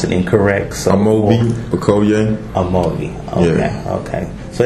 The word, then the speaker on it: Amobi Okoye: Because I don't want to pronounce it incorrect. So Amobi Okoye.